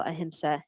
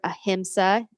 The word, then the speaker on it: ahimsa: if we need anything we need a little ahimsa in our world so let's uh go ahead